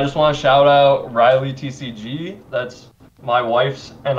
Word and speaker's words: Reilly: just posted a YouTube video on our Channel Riley TCG which is spelled same as my last name re e